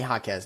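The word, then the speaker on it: Jaquez: Ham I mean Hammy Hakez, not Hakee. Hammy Hakez.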